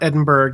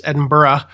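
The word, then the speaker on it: Edinburgh: from Edinburough Scotland and I did pronounce that right it's not Edinburg it's Edinburough and it it's Dennis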